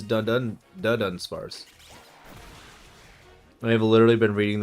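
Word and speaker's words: Dunsparce: I thought it was Dun Spars. It is not. It is Dun Spars.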